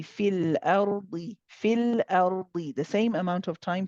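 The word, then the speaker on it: في الأرض: However, we do not pronounce this ya in continuation. When we join it with fil ardi, we do not pronounce the ya.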